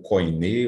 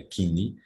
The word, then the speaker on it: koiné: O Kini, ou Koiné, ou Koiné, existem várias formas de pronunciar. A pronúncia moderna, ou erasmiana, é Kini, significa grego comum, que